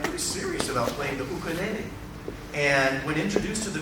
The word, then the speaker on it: ukulele: you're not going to touch one until you pronounce it correctly in in the Hawaiian way, and that's ukulele leule."